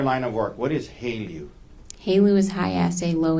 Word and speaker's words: HALEU: How do you say H-E-L-E-U? Haleu. Haleu. What is, in your line of work, what is Haleu?